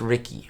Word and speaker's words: Ricky: Oh, it's pronounced Ricky.